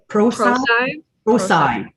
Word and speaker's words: Prosci: And there's a certification called, I can never remember how it's pronounced. It's ProSci.